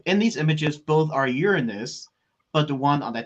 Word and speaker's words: Uranus: well thank you also for for saying for pronouncing it correctly so uranus um but it's still better than uh the